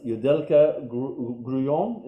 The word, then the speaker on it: Yudelka Grullon: Yudelka Grullon, is that how you pronounce it?